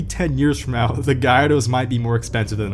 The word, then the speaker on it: Gallardo: Oh, by the way, it's pronounced Gallardo, don't fight me, it's not called Galardo, please stop calling it that.